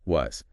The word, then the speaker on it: was: Was. The key here is the sound at the end. It's actually a soft Z sound for both.